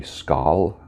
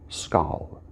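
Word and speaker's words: skål: so that's coming soon skull k o l i hope i'm pronouncing it right it could be skal i've seen it spelled s-k-a-a-l maybe some of you swedes can help me with my pronunciation it's a danish norwegian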